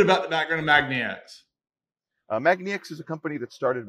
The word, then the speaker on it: magniX: magnets roy welcome uh thank you it's uh pronounced magnex so if you want to do that just for later on magnetic so tell us a little bit about the background of magnetix magnex is a company that started back in 2009